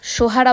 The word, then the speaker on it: সোহারা: এর উচ্চতা 1484 মিটার চেরাপুঞ্জির স্থানীয় নাম সোহারা বা সোরা স্থানীয় খাসিয়া ভাষায় যার অর্থ কয়লা ব্রিটিশদের উচ্চারণে সেরা হয়ে যায় চেরা ছেলেবেলায় কিন্তু চেরাপুঞ্জির নাম